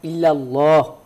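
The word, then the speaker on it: إلا الله: রাহমাতুল্লাহ সঠিক তো পরেরটাই যেহেতু লামে আল্লাহর আগে যদি জবর বা পেশ হয় তাহলে লামে আল্লাহ মোটা করে পুর করে পড়তে হয় ইল্লাল্লাহ এটাই হলো সঠিক উচ্চারণ মানে এক কথায় ব্যাকরণগত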